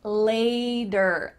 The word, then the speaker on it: later: See you later, later. Here we have another T that's changed to a D.